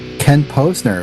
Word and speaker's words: Ken Posner: Ken Posner is on here.